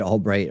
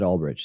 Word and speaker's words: Ulbricht: See, he said they said Albright right there. He said Ulbricht. He said it right.